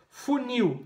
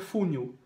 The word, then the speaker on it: funil: Funil, não é fúnil. É funil.